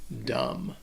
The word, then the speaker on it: dumb: and the only thing you need to know about this word is that the bee is silent dumb what's going to be